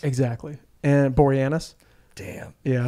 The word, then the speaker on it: Boreanaz: And just dialing up some dialogue for Boreanaz. Huh? Dialing up some dialogue for Boreanaz. Exactly. And Boreanaz.